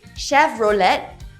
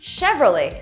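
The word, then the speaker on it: Chevrolet: So why do i always hear people saying Shav-row-let? It should be shev-ro-ley instead! How about this?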